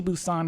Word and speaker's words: Busan: Train to Busan is, I think, it's how it's pronounced. Not Busan.